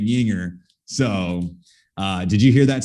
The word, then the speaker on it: Juenger: I told him to pronounce, almost like take away the spelling and just put like YING-ER. Like that's kind of just how you need to pronounce it.